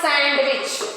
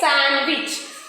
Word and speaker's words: sandwich: have to by heart next sandwich it's not sandwich okay sandwich right when is D